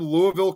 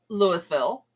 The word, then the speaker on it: Louisville: way, it's like, okay, we get you're from Louisville, you're from that city in Kentucky. Right. That's not how we pronounce it over here.